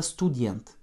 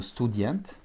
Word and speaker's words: студент: Student, avec un accent tonique sur la dernière syllabe.